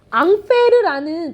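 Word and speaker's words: Ampère: 앙페르라는 프랑스 사람인데 이걸 미국말로 발음하면 암페어가 돼서 이 암페어라는 단위를 붙여줘야 돼.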